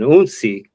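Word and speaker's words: hounsi: There's, you know, the initiate uh of the house uh, which is referred to as an uni. Uh, again, spelled with an H, but the H is silent.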